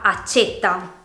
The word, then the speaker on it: accétta: Per esempio, con la E chiusa si pronuncia la parola accetta, mentre con la E aperta diventa accetta.